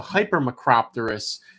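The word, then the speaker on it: hypermacropterous: terrorists I think again I'm gonna say you have the extra syllable in there so hyper maccropterus which is where the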